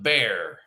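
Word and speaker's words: Bexar: yes it's called the bear that's how you pronounce it it's pronounced like b e a r bear it's a county in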